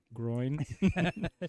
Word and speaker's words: groin: We got her realizing there is no W, there's no two syllables. It's just one.